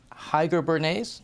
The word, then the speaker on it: Heiger-Bernays: Henrik Selin from the International Relations in the Pardee School is going to moderate this session with Heiger-Bernays, did I pronounce that correctly?